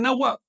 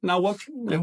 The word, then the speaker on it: náhuatl: Hay una diferencia sutil, pero importante de pronunciación. Así que recuerden, esta W no es vocálica, es consonántica, es una consonante. Mientras que esta forma de escribir, pues es vocálica porque la H no pronuncia. Así que ahí dice náhuatl.